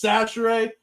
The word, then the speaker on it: Chachere: So yeah, same thing with my last name because so like remember when Lucas mispronounced my last name? Mm-hmm. And I was like, hey, it's Chachere.